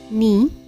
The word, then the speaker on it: knee: पहला है knee, knife, not, no. K is silent.